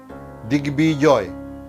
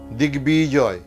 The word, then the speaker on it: দিগ্বিজয়: এবার আমরা বলবো সন্ধির সূত্রে আগত কয়ের স্থলে যে গ আসবে সেই গয়ের সঙ্গে ব যুক্ত হলে বয়ের উচ্চারণ অবিকৃত থাকবে।